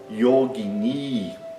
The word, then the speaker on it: yogini: Yogini tem duas sílabas longas, a primeira e a última, né?